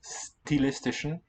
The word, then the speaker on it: stilistisch: Das Nachfeld wird dann wichtig, wenn Teile der Aussage aus stilistischen, the most elegant style of German doesn't palatalize this S here at the beginning.